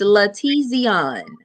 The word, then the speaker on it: LaTezeon: I don't want to mispronounce it. It's LaTezeon. Okay, LaTezeon.